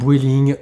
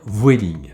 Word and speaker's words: Vueling: s'agit de vueling alors les chipoteurs vueling welling je vais là prononcé à la française je vais dire vueling on passe en revue